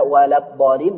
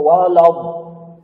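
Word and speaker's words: ولا الضالين: Kekeliruan berikutnya, sering banyak yang salah baca waladdallin, dibacanya walab. Ini salah, Pak. Ini la, Pak, bukan lo. Banyak yang karena sesudah la ini huruf do, di la-nya jadi o.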